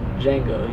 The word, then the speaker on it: Django: He's like, "Django." He's like, "How do you spell it?" He goes, DJANGO. He goes, "The D is silent."